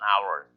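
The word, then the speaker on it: hour: 때문에 어가 붙는 거고, 이건 반대로 자음이지만은 언이 되는 건 이게 또 묵음이 됩니다. H가. 그래서 on our, on MVP 이렇게 M으로 하니까 모음이니까 on MVP 이렇게 되는 거죠.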